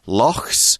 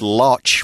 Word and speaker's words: loch: One thing about that pronunciation of the word, you definitely don't want to say loch. It may look like the word loch, but it's loch. It's more of a K sound.